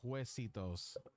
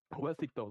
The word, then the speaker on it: Juecitos: You don't look at it as an H, because you're not gonna pronounce it with an H. It's Hue, so it's Juecitos. Juecitos, okay. So There we imagine go. a W basically, because that's really what it sounds like.